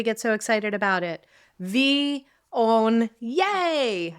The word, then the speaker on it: Viognier: V, own, yay. That's how we pronounce it.